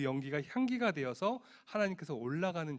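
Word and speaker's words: עולה: 있습니다 첫번째 번제 는 히브리어로 올라 라고 이야기합니다 2 온라인 뜻은 그 발음 그대로 올라간다 라는 그런 뜻입니다 왜 오셨죠 네 번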